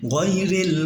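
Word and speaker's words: غَيْرِ: আনআমতা আলাইহিম, গয়রিল, এখানে অনেকে আমরা গায়রিল বলি, কিন্তু গায়রিল না, এটা গইন জবর গ হয়, গয়রিল মাগদুবি আলাইহিম ওয়ালাদ-দাল্লিন।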